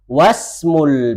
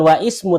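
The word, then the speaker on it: وَاسْمُ: Tapi ketika dia berada di tengah atau sebelumnya ada kata yang lain, maka dia tidak dibaca langsung masuk kepada huruf yang setelah setelahnya. Jadi pacaran membacanya ketika di awal ismul waladi Muhammadun wasmu bukan wa ismu tapi was wasmul binti Zainabu ya.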